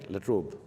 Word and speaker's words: La Trobe: I'm deeply grateful to the university, the La Trobe, do I pronounce it right? La Trobe.